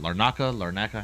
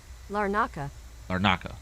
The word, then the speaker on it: Larnaca: I don't know how to pronounce it. Larnaca. How do you pronounce it? Hold on. How do we do this? Larnaca.